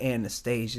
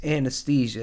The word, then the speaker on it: anesthesia: Like it's not Anastasia. Anastasia I think was a Disney princess. I don't It's anesthesia. It's a medical term.